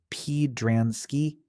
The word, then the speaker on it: Podransky: A message appears congratulating whoever solved the puzzle, and 2 code experts, Dean Crandell and Leo Podransky, spelled out phonetically as P-Dransky, stare at it in disbelief.